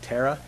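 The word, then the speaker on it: PTERA: of innovation it's called Terra prototype technology evaluation research aircraft the P is silent you can call it P Terra if you'd like but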